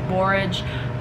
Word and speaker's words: borage: if i'm saying it's probably not barrage it's borage i am so bad